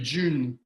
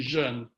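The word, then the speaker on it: jeune: kidding Diane was having a a funny time pronouncing this name Jun a lot of people say Jun but it's actually Jun um this that's the annoying thing about doing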